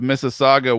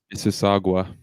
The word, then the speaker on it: Mississauga: I am part and of then he followed it up with Mississauga, we out here.